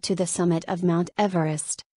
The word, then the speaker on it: Everest: Mount Everest is pronounced Everest, not Everest 8, as it is named after George Everest.